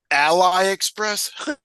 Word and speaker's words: AliExpress: when it'll show up Ally Express yes that's a right way to say it how do you say it Ali Ali it's the Chinese